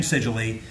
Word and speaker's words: Sigily: sigily he would say yeah my name is jim sigily uh uh that rhymes with robert e lee my hero so we